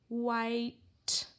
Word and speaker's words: white: Walter Walrus waves to a white, so we've got our WH, Harry Hatman staying silent. We need Mr. I, white.